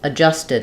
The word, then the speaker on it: adjusted: did it adjusted it this T here um is not exactly a flap it's just an unreleased um unaspirated tea because it's part of the s T blend just did just did